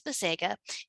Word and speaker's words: Bisega: my class i'm mrs bisega if you have trouble trying to pronounce my name it's ba se ga all right and i